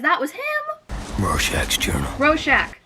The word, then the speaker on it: Rorschach: was him rorschach's journal roshack that's how you say it roshack 1985 cool cool dog